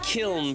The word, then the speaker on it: Kiln: It is pronounced Kiln, by the way.